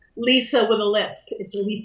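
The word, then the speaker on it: Litha: like Li spelled Li th a and it's pronounced like Lisa over the lip it delete them and it's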